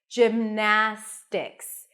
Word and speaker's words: gymnastics: how you pronounce it gymnastics you start with a j sound then it's the I as in sit gim Jim Close Your Lips for the M then we have na that's the primary